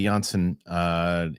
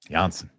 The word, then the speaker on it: Janssen: And they they don't pronounce their J's either? Janssen. Famke Janssen.